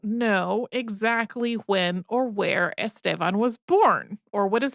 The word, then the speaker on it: Estevan: That, though, is a diminutive form of Estevan, which English speakers usually say more like Estevan.